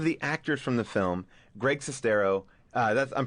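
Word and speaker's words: Greg Sestero: well one of the actors from the film Greg cestero uh that's I'm pronouncing your name yeah that's correct and uh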